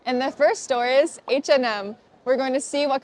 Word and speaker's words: H&M: This store is pronounced H&M, but when you speak fast, you can just say H&M. H&M.